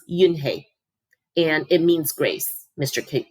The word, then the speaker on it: Unhei: turned to joey she nodded slowly yes it's pronounced yunhei and it means grace mr kim added yoon